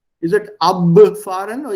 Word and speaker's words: abfahren: जैसे थोड़ी देर पहले क्या था, abfahren. Is it abfahren or या abfahren? Think. Abfahren. Abfahren. या P सुनाई देता है ना? So that B is pronounced as P, abfahren.